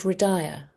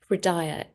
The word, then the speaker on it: Hridaya: I studied as a meditation teacher from a spiritual school called Hridaya, spelled with an H, just to confuse you. Hridaya, which has centers in France and Mexico.